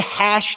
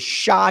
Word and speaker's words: SHA: hashing for 5,000 SATs sha 256 Dave I can't give that to you Dylan that's the a the af1 reman afran someone said hash 256 and that is not true it is sha 256 I had a